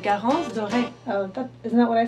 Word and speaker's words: Garance Doré: In French it's like Garance Doré.